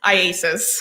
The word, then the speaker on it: IACIS: ISIS, yes. Can we call it ISIS? Yes. How do you say it? IASIS.